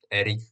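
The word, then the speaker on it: Erryk: Oni majú aj rovnaké meno v podstate, len jedno sa píše s A, jedno s E, takže jeden sa vyslovuje ako Eric, druhý ako Arik v podstate.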